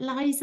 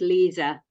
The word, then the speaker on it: Lisa: I think, is it Liza? Am I saying that right? You've got your hand raised. I pronounce it Lisa. I know a lot of people say Liza, but I don't mind really.